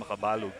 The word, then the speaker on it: Makabalog: When I used to coach this kid back in the Philippines, I've always called him Makabalog.